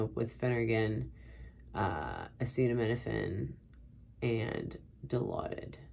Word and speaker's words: Dilaudid: The floor I worked on, usually they would come up with Phenergan, acetaminophen, and Dilaudid, which I've heard people pronounce Dilauda.